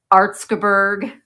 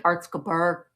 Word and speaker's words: Erzgebirge: The Erzgebirge, which I have pronounced wrong. I sent Michael a Marco Polo because Michael and I always have called it Erzgebirge. That's wrong. It's not Erzgebirge.